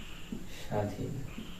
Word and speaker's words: স্বাধীন: এই শব্দের বানান হবে স্বাধীন বফলা উচ্চারিত হবে না আরেকটা পরিচিত শব্দ যেমন